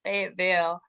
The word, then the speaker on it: Fayetteville: fayetteville um north carolina they always told me i had to say it correctly it's fayetteville um and then charlotte um